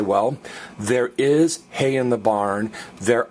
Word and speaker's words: hay: And it's pronounced I. And some of you are thinking, well, why isn't the H pronounced? Remember, guys, there's only one silent letter in the Spanish language. What is it? That's right, H.